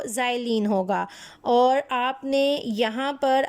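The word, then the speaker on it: xylene: उसको हम कहते हैं ज़ाइलीन। दिस इज़ नॉट, ये X है लेकिन इसको जब प्रोनाउंसिएशन होती है तो X को Z कहा जाता है, और ये आपके पास बन जाता है ज़ाइलीन।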